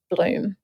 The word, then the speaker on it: Blum: Blum or Bloom if you are it's it's spelled B L U M. So, plum plum. But over in Luxembourg and Belgium, it's actually pronounced as Bloom.